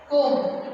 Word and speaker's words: comb: See, in the comb word, we won't pronounce B. Comb.